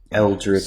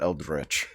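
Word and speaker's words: Eldritch: Eldrich. So stupid. Wizardry. The word is Eldrich. Eldrich. I pronounce it Eldrich.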